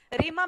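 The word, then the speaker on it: ρήμα: is happening here um if you read it as arima how it is Rima means the word like to to speak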